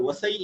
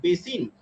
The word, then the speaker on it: Vasai: with the Britishers at a place called Vasai in Marathi, which is pronounced at Basin by the Britishers. So Vasai and Basin are the same thing.